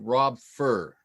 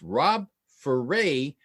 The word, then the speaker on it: Rob Ferray: And when he said it to me, if you read it off the page, it looks like Rob Fur. But he said it specifically, and I remember it because he said it's Rob Ferray, rhymes with hooray.